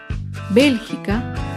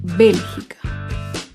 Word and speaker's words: bélgica: américa otro ejemplo es la palabra bélgica bélgica se acentúa en la antepenúltima fila bélgica por último otro ejemplo